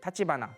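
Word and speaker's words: 橘: 마지막으로 이제 타치바나 가문을 보면요, 이제 겐페토 키스의 마지막이 이제 타치바나, 귤이라고 쓰고 타치바나라고 읽는데요.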